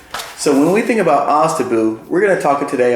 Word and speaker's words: OSDBU: Let me tell you how it's pronounced. OSDBU. It's pronounced OSDBU.